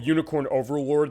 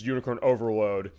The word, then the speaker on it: Unicorn Overlord: the the demo of unicorn Overlord that came out last week I said it wrong the first time they announced it which is unicorn overload and I was like